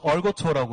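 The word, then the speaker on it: 二锅头: 중국 발음으로는 얼거토라고 하고 저희 발음으로는 이과도주인데 홍성 이과도주라는 술인데요.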